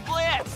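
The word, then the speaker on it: Blitzø: The name's Blitz. The O is silent and I'll be your assassin today.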